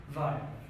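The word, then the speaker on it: VAIO: How do you spell it? V-A-I-O. Pronounce it. Vio. Vio is the well-known computer producing, or let's say digital producing company.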